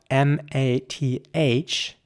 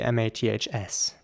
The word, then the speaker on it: maths: Okay, next up we have the word M-A-T-H, and plural would be M-A-T-H-S. How would you pronounce that word? Now, in British English, the word, first of all, has, usually got an S at the end.